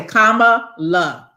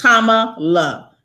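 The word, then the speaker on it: Kamala: thing when i heard when i heard it mispronounced i say comma love so for anybody who it's tama love um yeah we gotta we gotta put some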